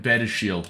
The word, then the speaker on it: Badiashile: this name aren't we that better Shield all right apparently that's how we'll mean to pronounce it according according to google his first name is